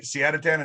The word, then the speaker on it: Siadatan: I am joined with a very special guest, Siadatan, right? Siadatan, is that how you say it? That's it. You got it said it right.